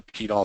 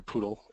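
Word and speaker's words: PDAL: different file formats with the P tall software or poodle other pronunciation is fine the organization bit of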